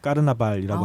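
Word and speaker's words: carnaval: 그러니까 남미에서는 이제 카니발이라고 안 하고 이제 까르나발이라고 하는데 이제 사실은 유럽에서 이식된 거죠, 이게.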